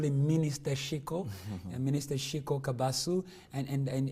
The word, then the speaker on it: Kabasu: You pronounce Kabasu well.